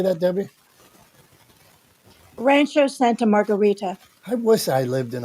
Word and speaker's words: Rancho Santa Margarita: and New York Pittsburgh's different than Debbie and Santo Rancho Margarita how do you say that Debbie Rancho Santa Margarita I wish I lived in a place called